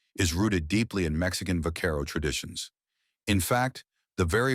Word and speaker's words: vaquero: In Spanish, the V in vaquero is pronounced closer to a B sound, which made it easy for non-Spanish speakers to mishear and reshape the word.